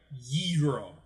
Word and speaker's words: gyro: And then there's actually a slight difference in the pronunciation, like you got to maybe it's just oh, you're right. That one is a ghee. No, ghee is clarified butter. It's more like a gyro.